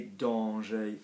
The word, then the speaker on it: dangers: Les avantages, les dangers, fine, we don't pronounce the R, everything is good there.